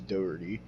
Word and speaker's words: Jack Doherty: pretty sure that's how you say it it's dirty but um so I would get these YouTube